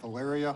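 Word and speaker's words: Phaleria: Ms hello hello did I pronounce your first name correctly uh kind of sort of but not really go ahead of valyria Hilaria yes okay thank you see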